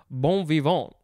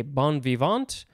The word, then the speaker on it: bon vivant: Now we have the word bon vivant. I think I'm spelling or pronouncing that correctly. You could say bon vivant, bon vivant.